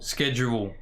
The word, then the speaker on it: schedule: It's not schedule. The H schedule. is silent. Yeah.